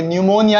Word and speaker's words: pneumonia: निमोनिया ही पढ़ेंगे। ठीक है? इसकी स्पेलिंग क्या हो जाती है?